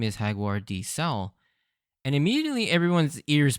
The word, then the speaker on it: Jaguar: written as Jaguar but I'm going to pronounce it Hagar as that's how it's pronounced in Japanese and I believe this